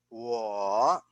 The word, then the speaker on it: 我: 我 Can you repeat with me? 我 All right. So that is how you pronounce the first person pronoun.